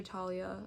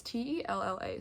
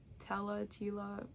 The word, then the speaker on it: Tella: So, it says, Scarlet has never left the tiny island where she and her beloved sister Talia, or Tella? It's Tella, so I don't know, however you pronounce that, live with their powerful and cruel father.